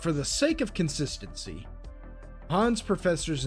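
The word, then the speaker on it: Hahn: But while there, Elise and Chaz meet Han. At least I think his name is Han. There's no voice acting, and his name is spelled H-A-H-N. So do with that the best you can.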